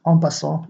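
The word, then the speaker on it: en passant: is to capture onas this is a French word we pronounce it onas like in French so how to capture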